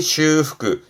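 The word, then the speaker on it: 修復: 발음은 오후그 오후 그렇죠 여러분 많이 하시는 복습 제가 강조하죠 복습하시는 거 발음은 후크슈 후크슈 앞에 한자는 숫자예요. 다끌 숫자인데 이게 수복음이 슈후그 슈후크 수복한다라는 건 본래의 좋은 상태로 되돌리는 거예요.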